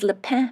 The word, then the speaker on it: Le Pin: vintages as Fiona explains Leen means pine tree it's spelled l e and then space p i n that's why I said lein at first the estate was